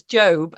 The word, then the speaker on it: Job: I didn't know much about major religions or the Bible, and now I feel like when people mispronounce Job as Job, I can correct them.